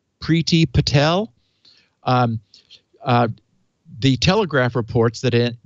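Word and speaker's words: Priti: Secretary is I guess I would pronounce her name Preeti PRI TI Preeti Patel the Telegraph reports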